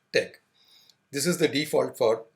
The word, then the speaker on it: TeX: Tech the extension of the file is Tech although it has the spelling T ex it is pronounced Tech this is the default